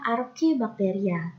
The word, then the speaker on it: archaebacteria: dan juga ilmu bacteria tulisannya archaebacteria tapi dibacanya Arfi bacteria ini tulisannya eubacteria tapi dibacanya adalah you bakteria yo yo ini saya